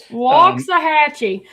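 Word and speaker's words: Waxahachie: Anyway, waxahhatchee. That That's a hard one because it's spelled waxahhatche.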